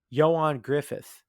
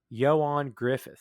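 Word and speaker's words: Ioan Gruffudd: lightyear is better than jessica alba and uh johan griffith which is how his name is pronounced if anyone's wondering joanne griffith is how it's actually so if you're like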